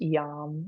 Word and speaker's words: yam: And the mantra here is yam, spelled like yam but pronounced yam. Y as in yellow, a m.